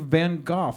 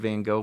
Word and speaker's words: Van Gogh: see a bunch of Van Gogh paintings. It might not come out directly in your art, but it's still in there somewhere, right. I think, sometimes. I always pronounce it the John Lennon way.